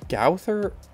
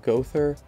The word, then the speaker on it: Gowther: Oh, I also found out that I think it's Gowther, right? It's not Gother, something.